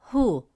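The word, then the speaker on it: ـهُ: By adding the letter ha with a damme vowel pronounced as hu, meaning his, to the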